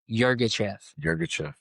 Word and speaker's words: Yirgacheffe: It is an Ethiopia Yirgacheffe. You nailed it. You nailed it. That's a great pronunciation.